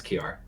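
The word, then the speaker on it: Kjárr: Yeah, the Kajar one. Yeah, because it was insane. Kiar, that's how you say it? Yeah, it's Kiar.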